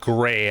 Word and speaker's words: Gris: And like that game Gray, I believe is how it's pronounced, but GRIS, I went in cold on that one, not knowing what to expect in the game.